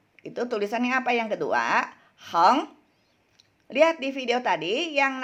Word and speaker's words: 横: Ini bacanya tian. 横. Heng.